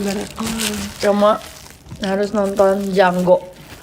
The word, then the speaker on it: Django: Oh, Cuma harus nonton Django. The D is silent.